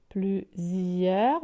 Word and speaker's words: plusieurs: Alors, plusieurs, vous voyez, la lettre S, elle est entre 2 voyelles, le U et le I. Donc, c'est pour ça qu'elle se prononce Z, vous voyez.